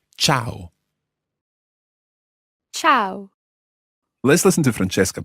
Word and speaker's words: ciao: or an informal hello in Italian you see ciao ciao ciao now be careful with the pronunciation of this word quite often people think it's Chow almost as if it's spelled CH or W